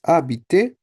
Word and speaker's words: habiter: So I know the verb for, if I search, the verb for to live in French is habiter. H is silent, remember, in French?